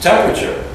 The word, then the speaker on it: temperature: It's a temperature. Temperature. Yeah. Temperature. Temperature. It's almost like the A's not there. Temperature. Temperature. Temperature. Yeah, you could almost spell it T-E-M.